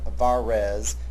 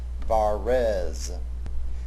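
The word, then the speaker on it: Varèse: And you will notice that his surname, Verase, has a downward pointing accent on the second syllable of his last name, on the first of the two E's, Verase.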